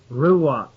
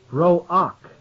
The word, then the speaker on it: ruach: for you here, R-U-W-A-C-H, ruach, found in verse 5 of Zechariah, the 6th chapter. Spirits is what they've translated it to. Ruach is pronounced roach, R-O-O, comma, A-K-H, roka, or roach, meaning something that creates violent action.